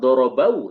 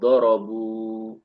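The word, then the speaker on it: ضَرَبُ: Dan kalau kita perhatikan cara baca dorabu, ya, bnya tidak lagi fathah, bukan dorobau, tetapi dorobu.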